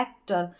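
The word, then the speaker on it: actor: अब आपको लगेगा कि ये जो एक्टर है ये तो बड़ी स्पेलिंग नहीं है, लेकिन इसको हम पार्ट्स में डिवाइड कर सकते हैं। एक ही फ्लो में हम नहीं बोल रहे, हम बोल रहे एक्टर, पहला पार्ट इसका एक हो गया, फिर टर हो गया एक्टर, इस तरीके से।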